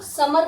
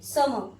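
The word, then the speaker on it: summer: समर, समर में भी सेम है, आर के जस्ट पहले ई, तो हम लोग समर नहीं बोलेंगे, समर।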